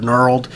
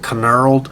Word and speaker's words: knurled: graduations and the word knurled, and it's spelled with a K, so I kept calling it knurled.